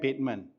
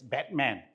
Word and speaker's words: Bateman: And a lot of people like to mispronounce my family name as Batman. I'm not Batman. As you can see, between the bat and the man, there's an E there.